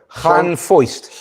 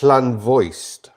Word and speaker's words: Llanfoist: Llanfoist. Llanvoist. Voiced. Because a single F is a V. No, it's not. It's an F.